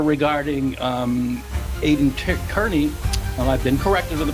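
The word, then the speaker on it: Kearney: over uh Mark Beto's letter regarding um Aiden Kerney I've been corrected with the pronunciation thank you uh and um we read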